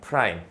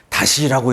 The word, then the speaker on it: 프라임: 프라임이라고 읽습니다. 프라임. 옵티머스 프라임 할 때 그 프라임이에요. 오케이? 프라임. 이거 어떻게 읽는다고? F 프라임 A. 오케이? 다시라고 읽으면 안 됩니다. 오케이? 다시라고 읽으면 안 돼요.